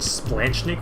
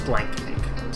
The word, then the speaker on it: splanchnic: the xiphoid process the splanchnic nerve by the way not splenic which would be cooler just splanchnic special shout out here